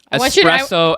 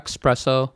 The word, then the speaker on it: espresso: think you're um here espresso espresso yeah when people use the X it bothers me espresso like can I get a xpresso there's no X in that name there's no X it's